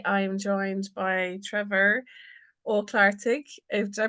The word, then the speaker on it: Ó Clochartaigh: episode and today I am joined by Trevor or claric did I pronounce that right Trevor yeah you did yeah